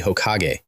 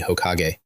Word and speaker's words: Hokage: You want to be Hokag. Yes, say it properly. I have always wanted to be Hokage.